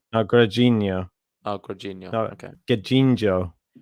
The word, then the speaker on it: Grigor: No, I think it's Grigor. Oh, Grigor. No, okay. Gajinho. Okay. Good pronunciation.